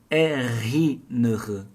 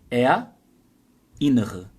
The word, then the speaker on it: erinnere: Você não vai falar assim, erinnere. Não vai juntar o R com o I.